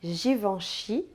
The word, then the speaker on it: Givenchy: É o tal do AN e N, que se pronuncia en. Pode se escrever tanto com AN, como em Air France ou Lancôme, quanto com EN, como em Givenchy ou L'Occitane en Provence.